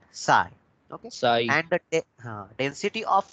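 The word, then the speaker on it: psi: हाउ इट is pronounce? P silent साई.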